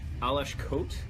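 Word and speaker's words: Aleš Kot: I'm a huge fan of Alesh Kote, as I was told is how to pronounce his name.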